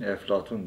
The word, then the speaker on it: Eflatun: Bizim hani Arapçada P harfi olmadığı için Eflatun diye telaffuz edilen filozof.